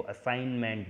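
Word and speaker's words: assignment: असाइनमेंट की ये जो स्पेलिंग है जिसमें डबल एस आता है और जी साइलेंट होता है, इसको असाइनमेंट बोलते हैं, MENT।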